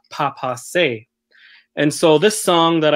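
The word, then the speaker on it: baapaase: a woodpecker which in the Ojibwe language it's pronounced Papa say and so this song that I composed is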